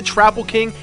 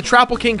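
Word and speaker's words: Troupple King: Let's start out with the Trapple King and the Icors. Yes, it's pronounced Trapple and Icor, even the game tells you this.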